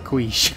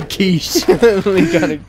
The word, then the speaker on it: quiche: In their famous song, Leak on a Queesh. I mean, I meant to say quiche. I pronounced the Q-U in quiche.